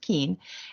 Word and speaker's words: Keuhn: It doesn't look like it's pronounced Keen, but it is pronounced Keen.